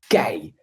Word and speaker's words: KEI: But throughout the PI, they've hosted something that they call the KEI session, which is a Dutch pronunciation of the abbreviation KEI, standing for Keep Each Other Informed.